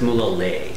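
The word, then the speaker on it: Mulegé: This is Mulege. It's actually pronounced Mulege.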